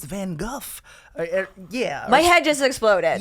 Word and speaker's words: Van Gogh: found out that it's actually not pronounced Van Gogh it's van Guff yeah my head just